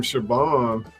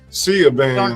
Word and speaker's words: Siobhan: Shit, I didn't even know how to say the name Shaban. I thought it was Siaban or something.